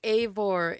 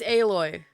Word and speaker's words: Aloy: Oh, I know why I keep thinking Aore. Aore is the main character of Horizon Zero Zero Dawn. Oh, you don't mean Aloy? Yeah, it's Aloy.